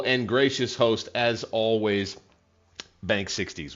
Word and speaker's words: Banksixdeis: Bank 60s. We'll see that name pop up at the top. That's how to pronounce it.